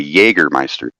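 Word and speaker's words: Jägermeister: j they have a Jager right but it's pronounced Jaeger like how do you say you don't say j or Meister you say Jagermeister that's that's true that's true so I mean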